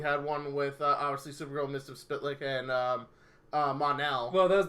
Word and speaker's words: Mxyzptlk: Mxyzptlk.